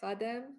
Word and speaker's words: Khadem: you so i mean i always say hadem which is easier than the long name that you see but